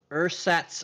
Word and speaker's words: ersatz: see i've also got uh i have er ersatz i sorry i had to really pronounce that e-r-s-a-t-z uh this artificial eye replaces